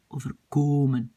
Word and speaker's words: overkomen: Ça m'arrivera parfois, het zal me soms overkomen, infinitif, mais quand je le prononce, je mets l'accent sur komen, overkomen.